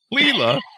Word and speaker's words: Laila: We have with us Laila Ibrahim. Laila. Did I get that right? Laila. Just ignore the A. Ibrahim. Did I get that all right? Laila Ibrahim. Laila.